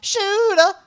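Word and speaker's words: shewda: shooter that's the word s-h-e-w-d-a shuda and it's pronounced shooter what does that mean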